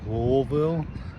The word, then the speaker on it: Louisville: working in Louisville Kentucky I think it's spelled Louisville but people call it louville I have no idea why but I'm here doing